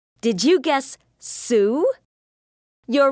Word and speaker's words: Sue: Her name begins with the S sound and rhymes with blue. Did you guess Sue?